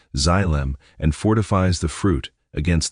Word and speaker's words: xylem: It travels up the xylem, pronounced xylem, and fortifies the fruit against the rot.